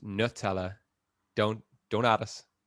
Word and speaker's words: Nutella: We can just leave that debate right there because it is pronounced Nutella. Don't add us. It's Nutella.